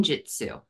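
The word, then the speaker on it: jyutsu: s h i n the last word is Jitsu which sounds like the martial art but it is spelled differently it's j y u TS okay and I'm just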